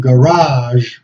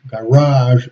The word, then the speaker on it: garage: margarine margarine margarine and garage garage in the in the u.s. always the accent on the last syllable in in the UK in the first syllable okay garage or garage